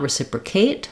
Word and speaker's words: reciprocate: In reciprocate, we still have the clear A, but we don't want to stress it. Not reciprocate, but reciprocate. So I would write that like reciprocate. Maybe I'll use a K there. Or Kate. Anything that helps you think of that A vowel.